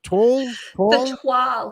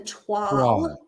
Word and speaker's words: toile: So if I were to spell it, it'd be TWAL. Toile. If you were going to spell it, it would be TWALL phonetically, yes. And it is spelled TOILE. So people will say toil, but it's a French word, toile.